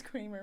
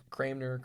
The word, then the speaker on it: Cranmer: I thought it Yeah. was Thomas Kramer. My apologies. No, you're fine. It's Cranmer.